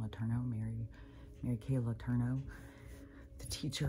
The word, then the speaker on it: Letourneau: That's how you say her name, Letourneau.